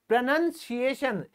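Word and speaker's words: pronunciation: हो जाता है दोस्तों ये जो ओ है बीच वाला ये गायब हो जाता है और सही सही उच्चारण उसकी क्या बनती है इंग्लिश प्रनंसीएशन इसको तो हम बोलेंगे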